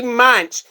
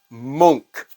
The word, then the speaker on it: Munch: got corrected XC actually munch it is not Munch that is just how it looks he is Edvard Monk that did the painting